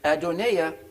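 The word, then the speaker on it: Adonijah: them anymore then five then adonai the jay is silent adonaia the son of hageeth now we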